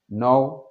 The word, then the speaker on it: know: C'est comme le verbe to know. Know, il y a un K. Mais on ne prononce pas le K.